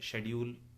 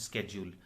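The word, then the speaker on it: schedule: जैसे मैंने एग्जांपल बताया आपको, एक वर्ड होता है जैसे शेड्यूल, तो ब्रिटिशर्स उसको बोलते हैं शेड्यूल, और अमेरिकन इंग्लिश में उसको बोलते हैं स्केड्यूल।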